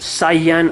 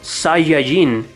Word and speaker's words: Saiyan: actually it's not pronounced syan or Saiyan or whatever it's actually pronounced seijin which is how everyone in Latin America has been pronouncing it ever since the translation